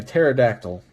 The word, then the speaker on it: pterodactyl: Oh, okay, so opossum, or more specifically, possum would be like a pterodactyl. The P is silent.